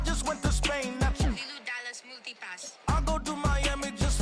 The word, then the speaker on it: Ibiza: Ibiza, Ibiza, yeah, that's pronounced Ibiza, actually.